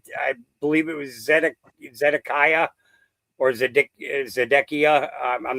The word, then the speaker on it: Zedekiah: I I believe it was Zed Zedekiah or ZedC Zedekia. I'm not sure how you'd pronounce it. Zedekiah is how you pronounce.